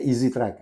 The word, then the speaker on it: AZ track: Bacanya easy track.